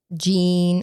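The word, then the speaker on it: Jeane: So, you would think her name was Jean or Gianne, something like that, but it's actually pronounced Jean.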